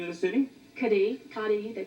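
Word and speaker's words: Cádiz: we actually what's the name of the city kadhi kadhi hey they pronounce it oh is that the C ADIZ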